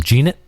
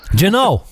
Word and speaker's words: Jeannot: Jeanette, the rookie for the Predators. Oh, Tanner Jeannot. Jeannot, there you go.